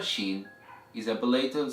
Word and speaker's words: ش: Alright, so the 13th letter of Arabic is pronounced as Sheen, Sheen, Sheen. Repeat after me, Sheen, Sheen, Sheen. And the sound of the letter Sheen is equivalent to the sh sound in English, and in the word sharp or sheep.